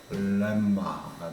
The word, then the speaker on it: 렘마: 공식 또는 정의 이건 이거다 라고 하는 것들을 렘마라는 표현으로 씁니다. 렘마가 아니고 렘마입니다. 날 발음이 을이라서 렘마가 되겠습니다.